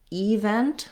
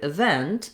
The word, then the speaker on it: event: this word more like event with the stress on the first syllable and with the clear e vowel for the letter e but actually the word event has the stress on the vent syllable which means the letter